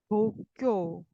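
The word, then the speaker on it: 東京: 도쿄, 도쿄, 도쿄, 사음절.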